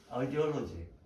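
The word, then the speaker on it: ideology: 근데 이데올로기를 가만히 뜯어보면 아이디어 더하기 로지거든요. 아이디올로지. 발음이 좀 이상하긴 하지만 아이디올로지라고 발음을 하는데 이게 이상에 대한 어떤 논리적인 체계라는 뜻이 되는 거죠.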